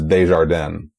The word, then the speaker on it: Desjardin: I believe the actual pronunciation there is Desjardins. The reason I say Desjardins is because I have heard the Sissy Spacek narrated audiobook, and she says Desjardins every single time.